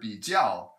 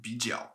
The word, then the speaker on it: 比较: One other point I wanted to point out is that this phrase, this word, 比较, is often pronounced 比较. Instead of third tone, fourth tone, it's often pronounced as two third tones together.